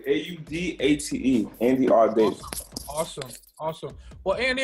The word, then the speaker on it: Audate: You pronounced it 100% correctly. Audate.